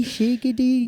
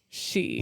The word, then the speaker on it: Sidhe: The Gaelic word is spelled Sidhe. And he looked at that for a minute and went, why? I was like, where do I even begin with this word? Sidhe, shiggy, Nope. She.